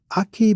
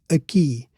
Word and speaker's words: aqui: Notice the same stress being on the last syllable of aqui. It's not aqui, but aqui. So another question is, why doesn't aqui have an accent in I, the last syllable?